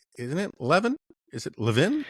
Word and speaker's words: Levin: family pronounces it is Levvin in um the the the second syllable is stressed. That's just the Israeli way of doing this and uh there's there